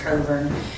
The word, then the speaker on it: Cockburn: but I knew absolutely her name is pronounced governor and the reason I'm